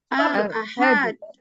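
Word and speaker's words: الأحد: Ya, makanya ditekaninnya di A-nya ya. Ahad. Bukan di alif lam nggak masuk hitungan. Di A-nya.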